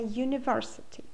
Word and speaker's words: university: and uncle but a university this is because the letter U at the beginning of University sounds like you a IFA known includes